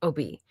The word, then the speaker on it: Obey: Like it looks like obey, but they pronounce it Obi.